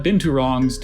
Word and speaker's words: binturong: Tune in tonight for the match of the season as the Jakarta Binturongs take on the Kuala Lumpur Pangolins.